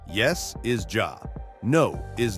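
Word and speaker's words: já: Hello is pronounced halo, thank you is tak, yes is ja, no is nei, and goodbye is segdu bless.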